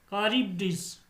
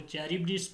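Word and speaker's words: Charybdis: Next हमारे पास आ गया between Scylla and कारिबडिस, Scylla and कारिबडिस। इसको चैरिबडिस भी पढ़ सकते हैं आप, कैरिबडिस भी पढ़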